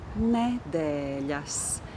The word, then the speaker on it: nedēļas: Anyway, that word is nedēļas. Nedēļas. The last syllable of the word is ļas. And here comes one of the difficult consonants of the Latvian language.